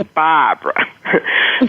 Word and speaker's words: Barbara: You know, I don't pronounce the R's, no R's. I pronounce them like A-H, ka, pa, kavid, yad. And so my name is Baaaaahbra.